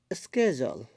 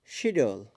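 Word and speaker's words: schedule: যেমন আমরা আমেরিকাতে অধিকাংশ সময় বলি স্কেজল, কিন্তু ব্রিটিশরা বলে শিডিউল।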